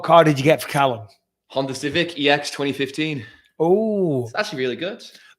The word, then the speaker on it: Callum: Callum. Or as Americans say, Caleb. Callum. I would not call him Caleb. Ridiculous. Please get it correct.